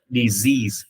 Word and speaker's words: disease: Disease, nhớ chứ S là phát âm là giờ nha, disease, thêm S là diseases, illnesses, sicknesses đều thêm số nhiều được.